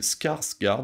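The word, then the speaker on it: Skarsgård: par cette trogne de Bill scarsgard je crois que je le dis bien je vais le répéter quand même Bill scarsgard oui oui ça se prononce comme ça qu'on a pu voir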